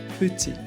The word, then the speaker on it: petit: I mentioned this in my other videos, in French, final consonants are usually silent. For example, petit, chat, et. But sometimes the T's come back, especially when we link the words. For example, petit ami, petit ami. The T reappears here smoothly.